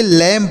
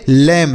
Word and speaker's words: lamb: नहीं पढ़ेंगे, तो इसे लैम्ब पढ़ेंगे, ना कि लैम्ब। इसे लैम्ब ऐसा नहीं पढ़ा जाएगा, यह गलत उच्चारण होगा। इसे आपको लैम पढ़ना है, केवल लैम, बी का उच्चारण नहीं होगा।